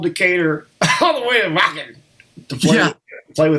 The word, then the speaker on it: Wacken: You played Wacken Festival and all that, or what do you, how do you say, was it Wacken? Wacken, yeah. Wacken with a V, okay. Or said V, okay.